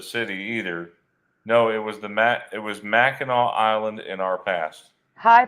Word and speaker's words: Mackinac: It's pronounced Mackinac.